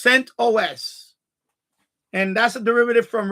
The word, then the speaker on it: CentOS: Sentos people called it Sentos like Mentos but it's CentOS and that's a derivative from Red Hat.